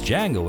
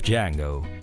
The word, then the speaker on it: Django: for the role of Django. Eventually, Tarantino offered the part to Jamie Foxx. The D is silent.